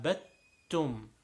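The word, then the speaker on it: عبدتم: by a tell but the rule here is that when Dad is followed by attack you actually don't see the dad son you just merge it into a Tad's sound so while a never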